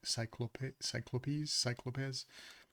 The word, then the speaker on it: Cyclopes: I'm not sure how to pronounce this, but I think it's cyclopes. Probably cyclopes. That sounds a little better, but we could look it up, I suppose.